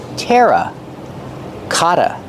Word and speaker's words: terracotta: can use the word terracotta to talk about these pots pronunciation Tera Kata the Double T makes a fast D Kata Kata these are